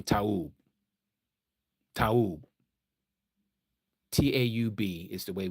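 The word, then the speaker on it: טוב: Tov. Okay, Tov. T-O-V. T-O-V. There's no O and there's no V in Taub.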